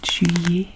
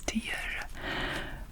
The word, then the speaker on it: tilleul: Oh no, I thought I said juillet. It doesn't, it says tilleul.